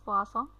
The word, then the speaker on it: Poisson: diperkenalkan oleh Simon Denis Poisson. Beliau ini adalah dari ilmuwan, salah satu matematikawan Prancis, ya. Ini membacanya bukan seperti membaca yang maknanya racun, ya, karena bahasa Prancis dibacanya Poisson.